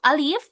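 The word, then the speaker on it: ألف: Huruf alif ini dibaca apa? Alif. Iya, alif. Alif dibaca alif pendek. Iya, alifnya juga pendek enggak boleh panjang.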